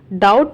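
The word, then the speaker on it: doubt: ही हैज नो डाउट डाउट में B silent होता है उसे काम करना है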